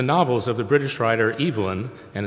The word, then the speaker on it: Evelyn: attentions to the novels of the British writer Evelyn, and it's not Evelyn, Waugh, and Waugh is spelled W-A-U-G-H, like our old science building.